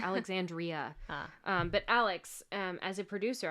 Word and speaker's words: Alexandria: I keep saying her name wrong. It's Alexandria.